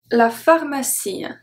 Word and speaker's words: pharmacie: La pharmacie. La pharmacie. Si. Stop it.